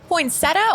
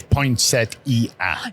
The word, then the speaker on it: poinsettia: Do you say poinsetta or poinsettia? Both are correct. Both pronunciations are considered correct. Apparently the correct way of saying it is poinsettia.